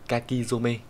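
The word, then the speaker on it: 書き初め: cũng là some thôi, nhưng mà trong cái trường hợp này thì nó biến âm đi, đọc là zome nhá. Từ này thì nó sẽ đọc là kakizome. Đấy, cái này các bạn phải học thuộc nhé.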